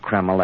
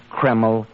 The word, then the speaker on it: Kreml: drive you stop and buy a bottle of keml at any drug counter it's spelled k r e m l keml hair tonic now Dr Watson did you and